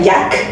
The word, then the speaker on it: Yaaj: Originalmente se pronuncia Jack en el magiguo, el mayor no es.